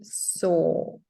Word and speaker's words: sew: pronunciation is the same. Yeah, Yes, as you pronunciation told is us. the same. So sew a button, for example.